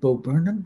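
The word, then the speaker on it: Bo Burnham: fun to have guys like um is it beau burnham is that he pronounced his name yeah bob brennan the star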